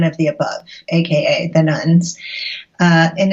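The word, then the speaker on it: nones: you talk about the nuns. So what are you referring to there, and why are their numbers rising so dramatically? Sure. So the nuns, and that's spelled N-O-N-E-S, not nuns like Catholic nuns.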